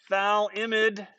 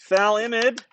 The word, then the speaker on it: phthalimide: the gabriel synthesis uses a molecule called phthalimide valimid is as difficult to spell as it is to say it's spelled p-h-t-h-a-l-i-m-i-d-e thal imid is relatively acidic it has a pka of